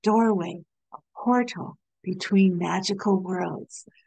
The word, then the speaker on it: duirwaigh: During that age, if one was lucky, one might encounter a door in the trunk of a tree, known as a duirwaigh (pronounced Door Way), a portal between magical worlds.